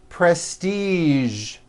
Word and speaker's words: prestige: Now, there are only a few words that have the voiced zh sound at the end. A few of these words are the color beige, the word massage, and the word prestige.